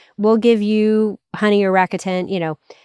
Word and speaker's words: Rakuten: There's another one called Rakuten that I pronounced improperly for 6 years, but it's Rakuten, Rakuten.